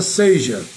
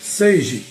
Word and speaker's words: seja: ou será que a palavra correta é seja? Então nós vamos esclarecer essa dúvida, porque é muito comum encontrar nas redações, nas escritas, de um modo geral, a pessoa tanto pronuncia de modo inadequado quanto escreve também de modo errado. Então, quando escrever seja e quando escrever seje. Eu já começo neste vídeo de hoje explicando que a palavra seje não existe.